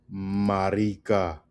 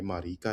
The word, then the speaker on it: marica: The next word is marica, marica, marica, right? Marica. Emphasis on the ri.